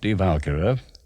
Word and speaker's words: Die Walküre: which we take up Die Walküre, which is how Wagner pronounced it with the accent on the first syllable.